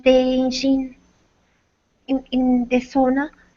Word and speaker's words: sauna: word originated so so I want to use the correct proper pronunciation of SAA okay s however in English with regular native speakers who have never lived in who have never had a proper SAA uh they would call it sauna thank you yeah my